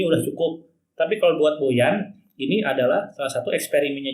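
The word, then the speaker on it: Bojan: Artinya Boyan ini, jadi ada komen kamari, Kang Eko lain Bohan, dibacanya Boyan. Oke lah Boyan ya.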